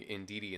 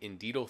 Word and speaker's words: Indeedee: the other day involving in DD and Fievel this time I didn't mispronounced it I keep saying indeed Oh thievery for some reason for some reason to keep doing that so leave a like